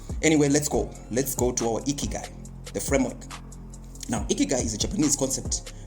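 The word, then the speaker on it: 生きがい: Ikigai, yeah, the pronunciation there, ki, then gai, yeah, ki, the keys and the gai, okay, is a concept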